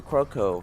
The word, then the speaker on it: Kyoko: name yes but so non-native people would say croco croco croco right they cut it very short whereas americans would say croco they would actually extend my name croco crow instead of